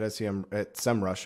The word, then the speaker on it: SEMrush: They have a tool at SEMrush, I should say. That's the right way to pronounce it.